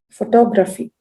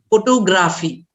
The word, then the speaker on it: photography: comes there example any any word ending with graphy photography very good photography now that is the correct way of pronouncing the way rajita said it is correct now i hear many people saying photography photography is wrong it's not photo and graphic when graphic comes you have to say you have to stress